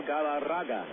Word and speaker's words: Galarraga: Armando Antonio Barto Galaraga. You got to roll the Rs, too. Otherwise, you just don't say it correctly.